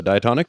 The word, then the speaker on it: diatonic: So diatonic, is that the word?